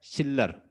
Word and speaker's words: Schiller: Life of द चिल्लर, कुछ इसे शिल्लर भी पढ़ेंगे लेकिन एग्जैक्ट प्रोनाउंसिएशन इसकी क्या है, शिल्लर।